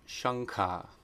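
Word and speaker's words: शङ्ख: rules of combination, and if anuswara is being combined with a guttural sound, it is always pronounced nga, the N with the dot over it. So that's shankha.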